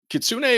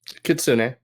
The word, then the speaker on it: kitsune: Kitsune. Okay. I've heard it pronounced both ways. I know it's a Japanese word, and I've told Japanese has hard start and stops to every syllable, so it would be Kitsune.